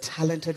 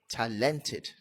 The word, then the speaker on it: talented: There are writers that talented writers today in this country. Talented. Stress on the first syllable again. Not talented.